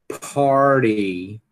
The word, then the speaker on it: party: Então, veja que mesmo se esse T tiver depois de um R, se a sílaba tônica for a primeira, você faz party. Você pronuncia o R normalmente, no sotaque americano.